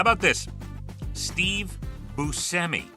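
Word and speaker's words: Buscemi: Busi is the way to pronounce it.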